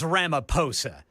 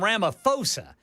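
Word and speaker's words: Ramaphosa: It is Ramaposa. I was calling him Ramoposa. Apparently in South Africa the H is silent.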